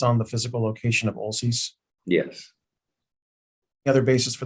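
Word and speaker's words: Olcese: that this change occurred in approximately 1981 when Olchesee Water District purchased the lower river right from Hacienda Water District. My question to you is, what is the basis for your understanding? Well, I know that it's Olcease, by the way, is how they pronounce it.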